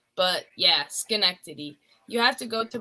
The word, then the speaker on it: Schenectady: Kate oh yeah Duncan it's pronounced Schenectady just connect to the sky neck tuddy I know it looks like I don't even know what it looks like but yes Schenectady you have to go